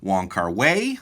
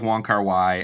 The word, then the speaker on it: Wong Kar Wai: pronounce his name because i have heard other pronunciations people will sometimes call him wong kar wei i've also heard uh wong ky um there is some debate about about the english pronunciation we're going to go with wanker y um obviously if you